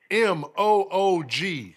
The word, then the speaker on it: Moog: a battle but like m-o-o-g now when i watch the documentary on dr robert he pronounced it moog but of course with the moo most people say moog but anyway doctor doctor